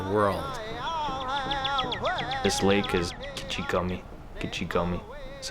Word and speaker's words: Gichigami: Gichigami is how you say that in Ojibwe.